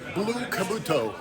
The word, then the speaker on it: Blue Kabuto: How do you pronounce it? Blue Kabuto. Blue Kabuto.